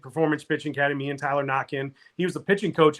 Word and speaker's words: Naquin: We laugh because it's Tyler Knockin. It's spelled the same as Tyler Naquin, the hitter that's now a pitcher.